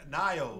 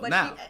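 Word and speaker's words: Nao: No, because I was calling her Nayo. Nayo. Yeah, I was because her name is spelled N-A-O. Now. But she kept like Yao. Like Yao mean. She kept on saying now, Nico.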